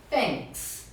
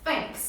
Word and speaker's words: thanks: Gente, esse som do TH, né, ele faz uma diferença, né, na melhoria do seu sotaque, né, e a pronúncia fica muito mais bonita. Então, colocar a língua Atrás dos dentes e dar uma sopradinha, né?